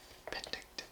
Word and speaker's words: Penticton: Penticton, pronounced Penticton, derives from the Okanagan nations.